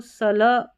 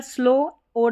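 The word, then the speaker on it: slow: यहां पर स्लो ओ डब्ल्यू को जैसे औ उच्चारण दो होते हैं। तो यहां पर ओ स्लो स्लाओ नहीं पढ़ेंगे। स्लो और डबल ई है तो इसको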